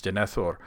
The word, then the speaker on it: Denethor: The answer is Denithor. I didn't pronounce it correctly, but that's okay because they don't pronounce it correctly in the movie. It's Denithor.